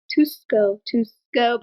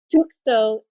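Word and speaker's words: Tukso: Tusko by Eva. Shit, hold on. Hey, we're all mispronouncing today.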